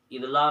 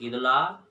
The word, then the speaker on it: Edla: तो उसकी बेटी जो है बोलने लगी कि देखिए मेरा नाम इदला है, इदला, ध्यान रखिएगा, स्पेलिंग लिख लीजिएगा, EDLA, इदला, इदला ।